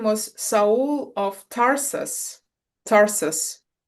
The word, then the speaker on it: Saul: Saul correct because I I you know I pronounce it as as I would see like so like an you know all all the letters right but soul surely soul and then Paul it makes sense right.